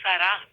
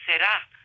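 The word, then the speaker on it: Sarà: It's actually Sarah, because the music is Italian. In English would be Será, but in Italian it's Sarah.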